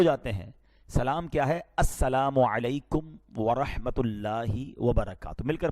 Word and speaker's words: السلام علیکم: ہاں سلام کی تلفظ ہی ٹھیک نہیں ہے. السلام علیکم, السلام علیکم, یہ سلام نہیں ہے, بلکہ بعض اوقات تو اس کے میننگ ہی آؤٹ ہو جاتے ہیں. سلام کیا ہے؟ السلام علیکم ورحمۃ اللہ وبرکاتہ.